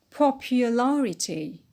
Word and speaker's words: popularity: pinnate next word is popular popular stress on paul and when we added the e t it becomes popularity popularity stress on just before that suffix on the anti-pinot next word is electric